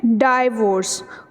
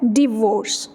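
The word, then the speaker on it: divorce: जाती है, God forbids, तो उसको हम क्या बोल देते हैं, डाइवोर्स, ठीक है, डाइवोर्स गलत है, उसकी बेसिक और एक्चुअल प्रोनाउंसिएशन क्या है, डिवोर्स, ठीक है, डिवोर्स, फॉर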